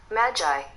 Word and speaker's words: Magi: here it is magic magic look at the pronunciation and let me see how it sounds oh I'll turn the volume up Magi oh I'm gonna turn the volume up Magi